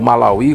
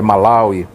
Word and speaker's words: Malawi: Citava Malawi, ou Malawi, como as testemunhas de Jeová às vezes pronunciavam. É Malawi, a pronúncia correta.